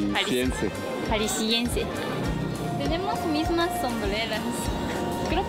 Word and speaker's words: Jalisciense: ¿Jaliscana? No se dice así. Jalisciense.